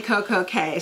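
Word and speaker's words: CocoCay: used to be, but it is definitely Koko K. So if any of your friends or anybody's like, I don't know what it is, it's Koko K. Just remember, rhymes with perfect day, Koko K.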